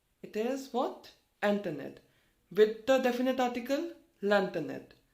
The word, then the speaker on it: internet: word is internet for internet in french okay pronunciation is not hunter no it is internet it is what internet with the definite article lanternid okay so let's